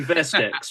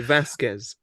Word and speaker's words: Vasquez: Surely Veskex, right? That would be Veskex. Yeah. No, Vasquez. I'm saying it wrong.